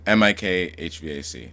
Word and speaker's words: mikHVAC: It's like M I K HVAC. That's how I pronounce it.